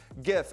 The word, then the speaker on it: GIF: GIF, animated looping images, hard G pronunciation.